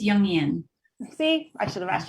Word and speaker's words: Jungian: Did I pronounce that right? It's Jungian.